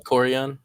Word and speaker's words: Valkorion: Valkorion? That Yeah, one. Valkorion.